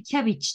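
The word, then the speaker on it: cabbage: キャベツもね、キャビッチって発音します。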